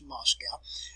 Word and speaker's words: Moscow: the way up to where moscow is you pronounce it as moscow and we'll get as close to moscow as